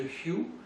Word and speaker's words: Hu: appelle le chant du Hu. Ça s'écrit H-U, mais ça se prononce en français Y-I-O-U, donc ça se prononce ça me remplit.